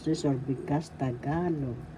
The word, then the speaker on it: Tagalog: syllabolta ka third syllable the accent is in the second syllable so you pronounce this or because tagalog tagalog and there are examples